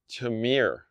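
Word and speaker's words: Tihomir: All right, so Holiday Spice Blend, sponsor of the day, is Tamir. I think it's how it's actually pronounced. T-I-H-O-M-I-R. So my guess is that's Tamir, T-O-M-I-R.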